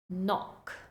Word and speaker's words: knock: for example knife knife no no KNE knee knock knock and that's it for our silent letters moving on to the next group of